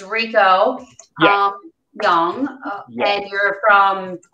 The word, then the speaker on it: Recio: name is it rico it's pronounced rico i know it looks like ricio my mom and dad